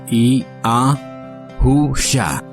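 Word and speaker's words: יהושע: a Au Shin a que es yusha se pronuncia I a husha muy simple muy poderoso de hecho el poder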